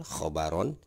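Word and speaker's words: خبرا: ya Jadi patahnya dua Nah ini dibacanya secara tebal khobaron terus di sini ada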